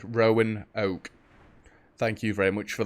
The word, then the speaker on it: Roanoke: sorry next stop roanoke i was told how to say it properly rowan oak thank you very much